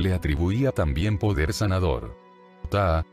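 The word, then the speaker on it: Ptah: Ta, que se escribe P-T-A-H, se pronuncia solo como Fat, y este ser era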